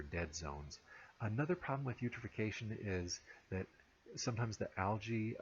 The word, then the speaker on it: eutrophication: You can remember what eutrophication is because it rhymes with nutrification, and it means an excess of primary production resulting from an overabundance of nutrients.